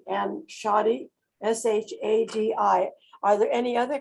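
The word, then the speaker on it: Shadi: and it's spelled s-h-a-d-i that's a person's name and it's pronounced shoddy um so make if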